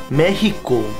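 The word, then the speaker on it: México: 아이 둘이 실력 하는데 아니 멋있어 너 못해 아니 아니야 멋있고 멋있고 멋있고 자들 있잖아 스페인 말로 멕시코는 메히코 X 발음 없어 메히코 I'm so sehi 아.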